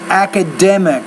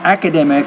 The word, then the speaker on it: academic: you want to say academic that's a word stress or not academic but academic so you want to make sure when you're when you're pronouncing words you put the stress in the right area I need to get